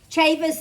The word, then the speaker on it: Ceva: Ceva's Theorem. That's how you pronounce that, Ceva.